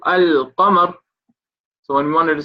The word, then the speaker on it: القمر: When alif lam comes on a word, sometimes when we read it, we will pronounce the alif lam. For example, al-qamar.